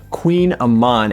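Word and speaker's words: kouign-amann: And I decided to try the Queen Aman. And it's spelled kind of interesting. It's actually K O U I G N A M A N.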